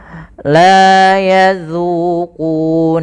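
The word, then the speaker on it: يَذُوقُونَ: La yadzuquna fiha. Hati-hati di dalam hafal huruf zal, jangan sampai terbaca dengan la yazuku, padahal dia zal kecil. Jangan juga tebal, jangan la yazuzu tebal, tapi dia zu tipis.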